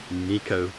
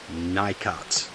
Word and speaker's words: Nicot: by the way the to my American friends the correct pronunciation is Nico not nikat okay Nico got it